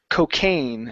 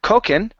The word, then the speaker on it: cocaine: next up we have the word cocaine so the stress is on the end instead of cocen okay to Rin in